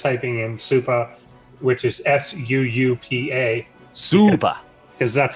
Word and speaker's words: Suupa: But just typing in Suupa, which is SUUPA. Suupa. Because that's how you spell Suupa, apparently. Suupa. That's the way to go. Suupa. Yeah. Yeah, think of Todd pronouncing supply. It's similar to that.